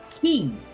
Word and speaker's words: quay: Key. It's pronounced key.